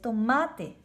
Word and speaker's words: tomate: Tomate es tomate. Le pongo más acento a la A, tomate.